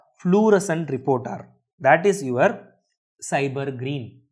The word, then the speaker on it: SYBR Green: Okay, in qPCR we use a fluorescent reporter, that is your cyber green. We pronounce this as cyber green, SYBR green.